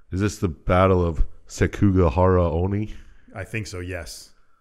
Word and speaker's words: Sekigahara: Yasu and Mitsunari is this the battle of sekigahara only I think so yes nice and Fukushima castle yes perfect pronunciation you guys are really crushing this damn